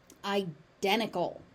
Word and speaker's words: identical: Identical identical. So there's a T in the middle of the word and guess what happens to that? It disappears.